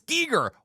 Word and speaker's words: Giger: is em gist and I thought it was G like HR Gyer but it's absolutely not and it's not guer either it's Giger what the heck guys